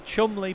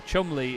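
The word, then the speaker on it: Cholmondeley: it's worcestershire sauce yes to be fair the chumley pageant of power chumley is felt troll mondaly and apparently it's pronounced chumbly anyway just as a quick update then for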